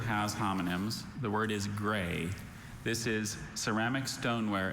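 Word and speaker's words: grès: The word is gray.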